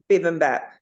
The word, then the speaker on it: Bibimbap: Bibimbap. It is, Satan. How do you say it? Bibimbap.